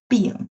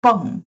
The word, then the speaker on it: 迸: Or the pronunciation of Chinese character is different from its component. For example, this is 迸发, but some students may read the component 病, but this is 迸, the whole character.